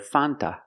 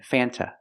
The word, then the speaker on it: Fanta: Sprite font root beer in America we do not pronounce the word Fanta it is pronounced f f use the short a sound before the N it changes a little bit it becomes a little more nasal in your nose f f f f